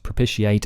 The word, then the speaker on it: propitiate: And negotiate, propitiate, initiate, all in modern English should technically be pronounced with that sh sound, she ate.